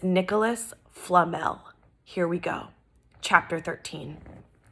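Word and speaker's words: Nicolas Flamel: sound like but I looked up the official pronunciation and it's Nicholas Flamel here we go chapter 13 and remember we're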